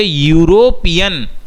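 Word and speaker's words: European: इसलिए करेंगे कि इवन दो ई एक वोवेल है पर जब आप ये वर्ड प्रोनाउंस करोगे यूरोपियन, जो वर्ड का प्रोनाउंसिएशन बन रहा है यूरोपियन, तो जो प्रोनाउंसिएशन की साउंड आ रही है वो य साउंड आ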